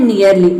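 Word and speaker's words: nearly: लेकिन यहाँ पे इसको हम ई ए आर को ईयर प्रोनाउंस कर रहे हैं, अर प्रोनाउंस नहीं कर रहे हैं। ये होता है नियरली, नियरली मीन्स होता है लगभग या फिर नज़दीक।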